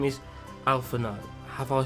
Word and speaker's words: Alphinaud: You don't pronounce a D at the end of it. It's ALPHINAUD, not ALPHINAUD. What seems to be the matter?